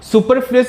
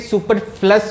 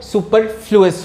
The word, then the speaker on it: superfluous: सुपरफ्लुअस इसका pronunciation है, कुछ लोग इसे सुपरफ्लस भी कहते हैं, लेकिन इसका सही जो प्रोनाउंसिएशन है वो सुपरफ्लुअस होता है।